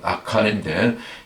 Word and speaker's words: 아간: 아간이 이제 히브리어 발음으로는 아칸인데, 이 아칼에서 왔거든요.